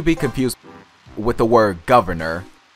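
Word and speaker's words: Guvnor: governor, not to be confused with the word governor. It's spelled G-U-V-N-O-R.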